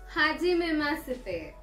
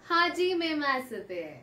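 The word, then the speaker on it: はじめまして: तो आपको स्क्रीन पर दिख रहा होगा यहाँ पे मैंने शीते लिखा है, बट एच जो है वो है साइलेंट, इसलिए हम एच को प्रोनाउंस नहीं करेंगे. तो इसका प्रोनाउंसिएशन होता है हाजी मेमासिते.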